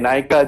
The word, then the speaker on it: Nykaa: The problem is there is this NYKA, Nika jewelry shop, okay? And this happens to be homophonic, similar pronunciation with the Bengali word Naka, okay, which means somebody pretentious, okay?